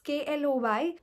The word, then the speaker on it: Chloe: Now I don't know how to pronounce it. It's KLOY.